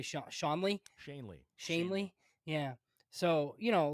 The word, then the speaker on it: Shanley: Garrett how do you say sha Shaun Ley Shanley shanely yeah so you know like th those